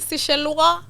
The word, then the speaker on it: Seychellois: You see Seychellois? That's the pronunciation.